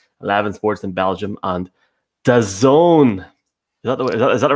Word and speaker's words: DAZN: channel in Turkey, 11 Sports in Belgium, and DAZN. Is that the right way to pronounce it, Evan?